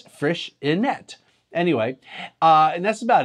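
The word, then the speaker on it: Freixenet: I've been pronouncing it friction a because that's what I thought it was but I checked the Catalan pronunciation via Google or between a Google translate and it's fresh inette anyway uh and that's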